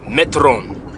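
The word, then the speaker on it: μέτρον: is pronounced Metro okay Metron strong G 3358 Metron Metron it's kind of like meter in a sense fulfill you up the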